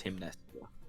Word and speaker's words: Himneska: It's not Himska, it's Himneska. It's gonna be fine.